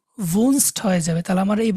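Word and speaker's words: wohnst: এটা ভি, ডব্লিউটাকে আমরা ভি বলবো, ভি ও হা এন, ভুন এস টি, ভুনস্ট, ভুন তারপর একটা এস টি দিব, তাই না, ডু ভুনস্ট হয়ে যাবে।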